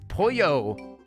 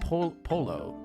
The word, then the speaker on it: pollo: Is it because pollo? It's pollo, not polo, not polio.